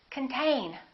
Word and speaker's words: contain: The next one is the same. This O is reduced. Con. This syllable is stressed. Contain.